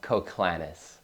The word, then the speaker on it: Koclanes: straight for everyone out there how do we pronounce the last name klanis coclanis one more time a little slower yep coclanis okay um so being a video coordinator and